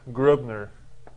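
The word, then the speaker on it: Gröbner: this is i guess this is really said like grubner this is the or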